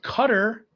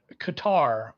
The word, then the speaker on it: Qatar: to address the chat both cutter and qatar are acceptable although there are various interpretations because the original pronunciation is in arabic and we're trying to do it in english that was one of